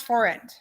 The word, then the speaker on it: forint: And it's pronounced forint.